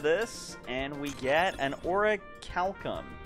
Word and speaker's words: orichalcum: get out of this and we get an orichalcum orichalcum that's how you pronounce it all right cool let's head to